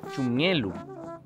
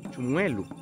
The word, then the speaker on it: chumielu: Asimismo vamos a aprender la palabra chumielu. Chumielu. Que también se puede llegar a escuchar como chumuelu.